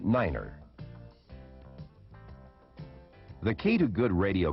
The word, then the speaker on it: niner: to represent these letters nine is the only number pronounced differently it is said as Niner the key to good